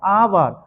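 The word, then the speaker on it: hour: आवर के पहले आवर आवर आ से उच्चारण हो रहा है। यह जो है ना वोवेल साउंड है।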